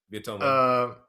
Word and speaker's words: Viet Thanh Nguyen: Toni Morrison versus Viet Thanh Nguyen. I might be mispronouncing that. Let me know, pretty GJ. close. Yeah, that's good. Okay. Yeah, that's right. Viet Thanh Nguyen.